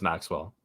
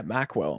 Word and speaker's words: Maqwell: either one I mean my actual name is Maxwell okay I'll say Maxwell then that's what I've always said but people like yeah mwell I'm like is that how you say it okay